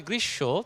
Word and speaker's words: গ্রীষ্ম: আবার যখন বলি আমরা স্মরণ, তখন সাধারণভাবে ময়ের উচ্চারণ হচ্ছে না, কিন্তু যদি আমরা বলি গ্রীষ্ম তখন কিন্তু ময়ের উচ্চারণ হচ্ছে। তবে ময়ের ক্ষেত্রে বলা হয় নাসিক্য ধ্বনি বলে একটু নাসিক্য উচ্চারণ হবে।